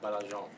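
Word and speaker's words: Baillargeon: It's like Bail, B-A-I-L, L. and then large, L-A-R-G-E, and Sure. then on, O-N. Yeah. It's pronounced Belargin.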